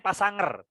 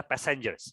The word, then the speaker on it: passenger: yang nomor 3 ini bacanya pas sanger Nah ini kan salah ya cara membacanya adalah passengers -nya yang harus kalian